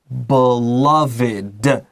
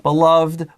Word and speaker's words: beloved: 就是 be 跟 love 加 ed 在一起， but 它的发音会变比较不一样。So it's to be beloved. 这个 ed 会发一个短 id, not beloved, but beloved.